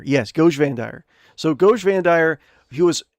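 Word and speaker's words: Goge Vandire: Goj Vandire. Yes, Goj Vandire.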